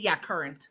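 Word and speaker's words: currant: Is that how you pronounce it? C U R R A N. R A N T. Yeah, current.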